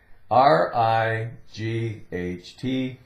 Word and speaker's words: right: R-I-G-H-T, right, right. G-H is silent, R-I-T, right.